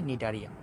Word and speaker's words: নিডারিয়া: প্রশ্ন আসতেই পারে যে নিডারিয়া নামটা কোন জায়গা থেকে এসেছে?